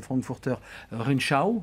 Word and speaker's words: Frankfurter Rundschau: sujet économique pour un grand quotidien allemand, le Frankfurter Rundschau, cette fois-ci je l'ai plutôt correctement prononcé.